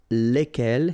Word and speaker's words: lesquels: And the good news is that phonetically it's lesquels here for the masculine form and then lesquels for the feminine form. All right, so phonetically it's exactly the same when we talk about